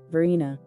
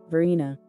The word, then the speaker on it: Verena: most common pronunciation is Varina Varina the other pronunciation followed in Italy is Verena Verena the meaning of this